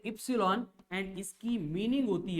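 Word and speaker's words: epsilon: यहाँ पे ये जो साइन दिख रहा है आपको, इट्स ए ग्रीक अल्फाबेट, इसको प्रोनाउंस किया जाता है एज ए इप्सिलॉन एंड इसकी मीनिंग होती है परमिटिविटी ऑफ द मीडियम।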